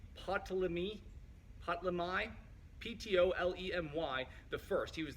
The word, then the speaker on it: Ptolemy: to butcher these names, Ptolemy, Ptolemy the first. He was the first king of Egypt. What was that? Ptolemy? Yeah. Thank you. The P is silent, so it's Ptolemy.